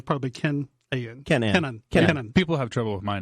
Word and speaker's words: Kenon: me out say pinon Kenan Kenan yeah like Kin Kin yeah probably a.m. and yeah phonetically probably can Kenan people have trouble with